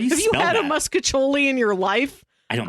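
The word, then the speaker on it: mostaccioli: I've always heard it pronounced muscatoli. Maybe because the name means little mustaches in Italian, at least according to the AI overview. I swear... Muscatoli. Nobody pronounces it mostacholi.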